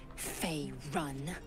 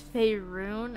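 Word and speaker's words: Faerûn: on matters of this F run I will no it's fyon oh I've been saying it wrong ah it seems like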